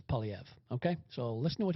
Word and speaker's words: Poilievre: of the world that can't quite pronounce his name because it's a French name? It's Poilievre, Pierre Poilievre. That's how you say it properly. Anyway, or Poilievre, but it's Poilievre.